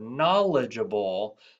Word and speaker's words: knowledgeable: One of our core values at CFI, our learner profile word, knowledgeable, also starts at that silent K.